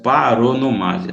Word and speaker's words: paronomásia: Ó, a pronúncia é paronomásia, viu? Porque vem de parônimo, parônimo. Parônimo são palavras, aquelas palavrinhas